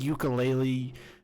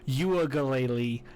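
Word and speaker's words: Uiagalelei: clemson is asked dj ukulele dj his his name is actually pronounced you again he is massive ass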